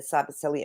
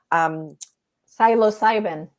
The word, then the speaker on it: psilocybin: And why have they tried to suppress, the healing aspects of the mushroom, the cybercillium, all of that? Cybercillium, is that how you say it? Psilocybin.